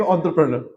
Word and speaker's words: entrepreneur: E isn't pronounced as E. You need to pronounce it as A.